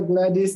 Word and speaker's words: Gladys: Did I pronounce that right, Doctor? Yes, you did. yeah, Dr. Gladys.